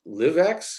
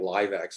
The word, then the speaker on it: LivX: making the shift livx is that how i pronounce it because i heard stephen gay say livx and i realized i've been calling it live x and that's wrong it sounds like an entertainment thing and so there's a